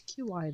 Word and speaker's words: Qi: By the way, Qi is a very strange pronunciation. It's qy. There's no W. Just like there's no qy being a ch sound either.